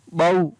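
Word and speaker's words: bough: तो OU के बाद में यहाँ पर भी GS है, और GS का उच्चारण नहीं हो रहा है। फिर है BOUGST, बॉट, BOUGS, बाऊ, PLOUGS, प्लाऊ।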